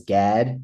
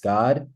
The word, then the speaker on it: Gad: his Seventh Son was Gad in English in Hebrew it's pronounced God right and so God then